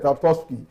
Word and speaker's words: Tarkowski: Tarkowski. 3 syllables. Tarkowski.